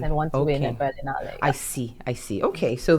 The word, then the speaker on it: Berlinale: Before we start, let me know, did I pronounce Berlinale correct, or was it Berlinale? Berlinale.